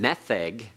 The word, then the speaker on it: metheg: The metheg, and right away you know the name metheg has to be a segolate noun, and that's why I'm emphasizing it on the first syllable.